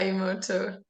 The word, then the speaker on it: Emoto: Layla, how do you pronounce Emoto? Emoto, is that correct? Yeah, Emoto.